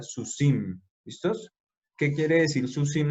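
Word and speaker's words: סוסים: Entonces, por eso esta samej, que es la última de la palabra sus, se lee con el puntico y sería susi, y entonces se hace la terminación iot mem, entonces quedaría susim.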